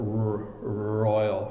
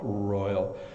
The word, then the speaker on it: royal: and then the are your tongue is actually in the back of your mouth so you're like a royal royal and I understand this